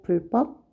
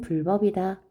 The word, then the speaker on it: 불법: 대기가 일어나지 않습니다 4번에 불법 자 불법 무단횡단은 불법이다 어 그런데 환자에서 디귿 시옷 지이 올라고 했지 기업은 아니에요 그래서 불법 하면 안 되고요 불 법 된 소리가 일어나지 않는게 표준 발음이에요 무단횡단은 불법이다 불법이다 이게 표준 발음입니다